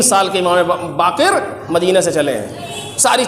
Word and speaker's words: باقر: آپ یہ دیکھیں اس مقدمے کی آخری بات، امام محمد باقر علیہ الصلوۃ والسلام، صحیح تلفظ ہے باقر بروزن فاعل جیسے صادق و کاظم.